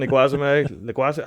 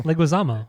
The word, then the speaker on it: Leguizamo: It's John Leguizamo. I can never pronounce his name. Tybalt. Yeah, Leguizamo. Sid from Ice Age. John Leguizamo. Yeah. I say Leguizamo. I can't even say it now. Leguizamo, right?